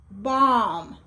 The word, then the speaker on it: bomb: Now, the silent letter B usually comes at the end of words and just after M, such as bomb. It's not bomb, bomb.